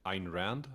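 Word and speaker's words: Ayn Rand: Rand how do you say it in English Ein Rand Ein Rand yes Atlas Shrug and Ein Rand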